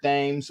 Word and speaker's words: Thames: and it is eric names although we were saying that his name is spelled like the river tem in england that was that was